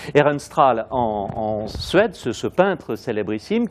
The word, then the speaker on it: Ehrenstrahl: Cette représentation de Charles XI, donc c'est toujours Ehrenstrahl, hein, on doit dire Ehrenstrahl, on ne fait pas la prononciation allemande. Ehrenstrahl en Suède, ce peintre célébrissime qui nous représente Charles XI en Apollon.